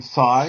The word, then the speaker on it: Si: Is the correct way to say your name Sai?